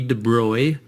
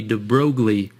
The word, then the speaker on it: de Broglie: named Louie de Bry now it looks like you pronounce this Louie de brogle and that's what I always said I always read this and I said de brogly in my mind and I knew that wasn't right if you look it up